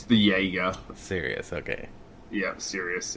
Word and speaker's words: Sirius: Yeah, Sirius, yeah. Like Sirius Black from Harry Potter.